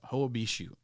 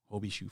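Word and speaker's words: Hoia Baciu: yeah you should you should look it up ho bishou and it's spelled h-o-i-a-b-a-c-i-u obishu forest you've probably heard of that place maybe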